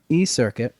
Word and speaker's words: eCirkit: That's exactly how you pronounce it, yeah. eCirkit, I was told, would you call it a social network?